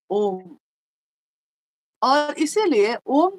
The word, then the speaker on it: ओम: उत्पन्न हुई और उस ध्वनि की आवाज थी अ उ म यानी जिसको संयुक्त मतलब पूरा मिला दिया जाए अगर तो होता है ओम और इसीलिए ओम का